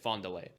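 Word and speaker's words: Fond du Lac: And Henry asks if he'd make it look like the house in Fondulock or Fondlay, I guess. I'll just say how they say it. Fondle.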